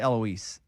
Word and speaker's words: Eloise: I say Eloise. Oh, yeah. Yeah. Soft S.